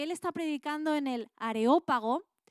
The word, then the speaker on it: Areópago: ¿Puedes buscar una imagen, Johnny, del Areópago? Areópago, con acento en la O porque es de esdrújula.